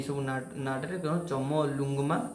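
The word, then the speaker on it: Chomolungma: तार कलियुंगमा सॉरी मोर होनी pronunciation चमलुंगमा is located in which country?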